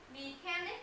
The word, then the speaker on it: mechanic: Mechanic này. Mình có đọc mechanic không? Mình đọc là mechanic. Mechanic. Mechanic.